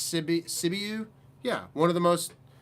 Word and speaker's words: Sibiu: I should have done better with figuring out how to pronounce some of these words because now I'm all in my head. It's Sibiu.